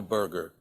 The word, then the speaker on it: Berger: over the world, Joe Berger, and that's spelled Berger. Okay, Berger, not like a hamburger, but it happens that my name's and he's Berger, so some people do call us Hamburger.